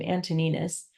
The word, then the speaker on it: Antoninus: Once, long ago, the Roman Emperor Antoninus, is how to say his name, Antoninus, was hunting in the woods and became separated from his party because of a storm.